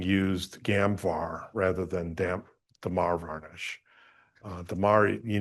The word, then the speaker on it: Damar: What is your opinion of, and I might not be pronouncing this correctly, Demar. Demar.